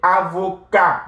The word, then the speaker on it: avocat: So, il est avocat. The T is silent, right?